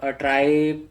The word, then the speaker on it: trie: सो ट्राई pronounce as TRY, ट्राई बोलते हैं ना, वो प्रोनाउंसिएशन भी बता रखा है उन्होंने कैसे बोलना है।